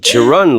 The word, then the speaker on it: Charan: Charan, ladies and gentlemen. Charan. Hello. Did I say it right? Like Charan to the store? Yeah, you said it right.